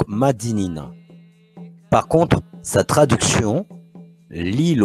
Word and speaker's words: Madinina: Par l'oral, dans la langue créole, nous avons conservé la bonne prononciation qui est donc Madinina.